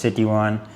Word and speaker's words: Sitiawan: She says it's kind of like City one. So, it's Citywan here.